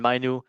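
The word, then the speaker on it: Mainoo: Manu.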